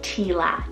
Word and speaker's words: Tila: l i a but you could also do Tila t i l a now both of these